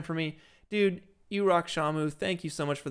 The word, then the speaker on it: Samu: So, pronounced Shamu. Pronounced like Shamu the killer whale.